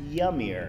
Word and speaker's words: Jamir: car yes well yes it says jamir pronounced yamir oh that's good yeah